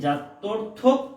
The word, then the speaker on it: জাত্যর্থক: এই লাস্টে কিন্তু একটা ক বলেছি, লাস্টে কিন্তু আমি ক উচ্চারণ করেছি, জাত্যর্থক পদ।